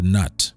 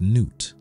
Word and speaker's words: Nut: All right, let's go on to Nut, or Nuit, or Newt. Her name is pronounced Newt.